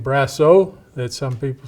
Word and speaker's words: Brassieur: Okay, my name is Brassieur, is how we pronounce it in French, Brassieur. And you might say Brassieur, or you could say it in many different ways.